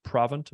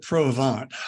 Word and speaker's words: Provant: president of was it proven to my pronouncing that correctly probably you know we called it pro-vant provant was a a company